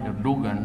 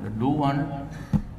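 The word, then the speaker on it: Erdoğan: Tapos ako, nandyan sa cover ngayon sa mga time magazine, si Putin, isa pa, sa Turkey, si Erdogan, we pronounce it Erdogan, but Erdogan, si kami daw yung mga strongman na yung repress.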